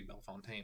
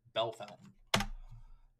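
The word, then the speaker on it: Bellefontaine: you pronounce that I I look at it I see Bel Fontaine apparently they say B Bell Fountain um is dumb Shelby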